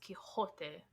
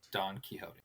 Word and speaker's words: Quixote: just pointing that out Don kote kot kote it's Spanish it is a Spanish author right I I know but it's a Spanish name therefore you should pronounce it the Spanish way it's span it's the